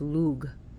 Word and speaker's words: Lugh: Lou who is also who's pronounced modern times Lou even in Ireland even by Irish pagans but his old pronunciation from older Gaelic is Luke but now we call him Lou it was once thought